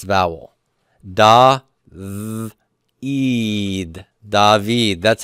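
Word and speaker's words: דוד: the Kira code is it's vowel da eed dahveed that's how David is spelled in Hebrew dahveed this is also a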